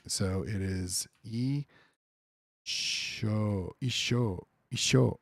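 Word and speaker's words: 一生: So it is isho, isho, isho, 一生、 isho.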